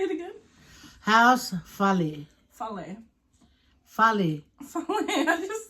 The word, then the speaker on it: fale: Fale.